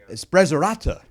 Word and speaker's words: Sprezzatura: It's called Sprezzatura. It's like Pizza Tuesdays. You go to the pizzeria. Say it again, please. Sprezzatura.